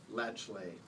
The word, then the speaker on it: Latiolas: in this case, and I will pronounce her name and I'll spell it for you. It's Barbara Latchley, and the spelling of that last name is Latiolas, and that is her photo right there.